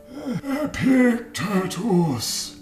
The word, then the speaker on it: Epictetus: Epictetus. 4 powerful syllables.